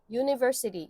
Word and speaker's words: university: 거기에 U를 어떻게 쓰냐면 이렇게 씁니다. J로 써요. J는 자음이잖아요. 그쵸? 그러기 때문에 university, U로 발음되는 것들은 모음이 아니라 자음이다라고 생각해 주시면 됩니다.